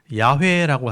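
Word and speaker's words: 야훼: 그래서 여기는 여호와라고 써 놨지만 실제로 발음할 때는 야회라고 하는게 맞는 거예요.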